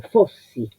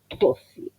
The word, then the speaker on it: fossi: Primero el acento porque la primera sílaba que aparece es la sílaba tónica. La O tiene el acento agudo, por lo tanto es cerrada. Y después copio lo que veo. Doble S, fossi.